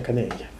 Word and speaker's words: canella: que canela aquí significa, en catalán se escribe canella y se pronuncia canella.